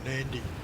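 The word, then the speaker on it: Nadi: is spelled honiara yeah nandy is not spelled nandy it's spelled nauy yes I I I understand where you're coming from with it but at least that way they've spelled it that way you say it how it's spelled not not like NY put an extra in there from somewhere oh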